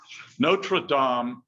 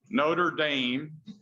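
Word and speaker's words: Notre-Dame: isn't quite right, but Notradam is in Paris. Notre Dame is in Indiana.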